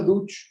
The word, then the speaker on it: Duch: Y resulta que este Antonio Duch Planas, no, Antonio Duch se escribe, pero es Duc en catalán, Costa, es el tío